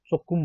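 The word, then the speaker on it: 조금: साथीहरूलाई छोगुम भने तापनि कोरियामा चोकुम भनेर उच्चारण गर्छ चोकुम, तर लेख्ने बेलामा चाहिँ छोगुम भनेर उस गर्छ लेख्छ है साथीहरू, नझुक्नु होला।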